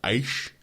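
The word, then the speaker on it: Aech: Then we got Helen Harris, who goes by Aish. That's how I say it. It's just, I thought it was H. It's H. It is. It's H.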